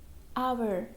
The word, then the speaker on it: hour: For example, honest, honor, hour. Okay, means if any word is starting with letter H is silent.